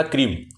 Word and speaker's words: क्रीं: और उसके बाद क्रीम बीज में मैं ही उच्चारण करना, क्रीम, क्रींग नहीं बोलना, क्रीम बोलना है।